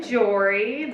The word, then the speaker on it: Jori: So I'm Jori. This is my show. It's called Sorry Jori. If you pronounce it correctly, it rhymes.